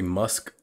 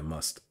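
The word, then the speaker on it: musth: I was about to say musk, but yeah, must.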